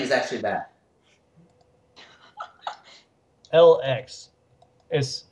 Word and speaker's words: LX: Don't have to say it like Alex. Just LX.